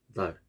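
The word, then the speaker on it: ذال: 달 이런 식으로. 그리고 이거는 발음 기호로는 DH입니다. 달 혀가 이 사이에 나오면서 나는 소리.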